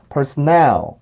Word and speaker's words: personnel: 요 음절까지 발음을 해보면 personnel, personnel, personnel, personnel, personnel, personnel. 네, 요렇게 발음을 해줘요. 아마 이게 정확한 의미는 모르겠는데요. personnel이라고 하는 아마 단어가 있을 겁니다. 그게 무슨 군대에서의 어떤 직급을 나타내나? 그런 게 아마 있을 건데 그 단어의 발음도 personnel이라고 발음을 해요.